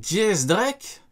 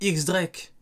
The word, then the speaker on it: X Drake: Jace Drake? Ah, il le prononce Jace Drake? Vous le prononcez comment vous? Moi j'ai toujours dit X Drake. Attends. Donc le X, on le prononce dièse.